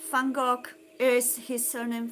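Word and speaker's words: van Gogh: Vincent Fangok.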